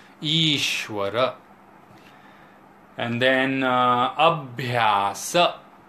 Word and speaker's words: Ishwara: Jeeva the individualized soul Ishwara not eshwara Ishwara and then abhyasa not